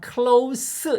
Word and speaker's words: close: I have close 이거 스 발음인 거 아시죠? 즈 아니고 close friends here in New York.